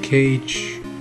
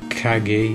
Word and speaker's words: Kage: You got Legend of Cage, or Legend of Kage if you want to be proper pronunciation.